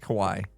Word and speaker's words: Kawhi: But Kawaii. Kawaii. It's just Kawaii.